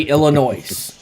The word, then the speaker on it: Illinois: I can pronounce it properly. Don't worry. I don't say Illinois. That is a stupid way of saying it. It's Illinois.